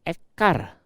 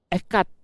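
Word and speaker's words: אחד: diganti dengan res, bacanya ekar. Ekar ini dari kata akar artinya yang lain, berarti politeisme. Itulah sebabnya huruf D diganti supaya diperbesar supaya jelas. Jadi kalau kita baca ekat bukan ekar, hati-hati kalau salah.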